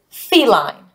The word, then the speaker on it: feline: that I see that this syllable ends with a vowel and the vowel sound is long so I'm going to read this as fee and then I know here because it has a silent e that this is gonna be a long I so I have lie this word is feline a feline is another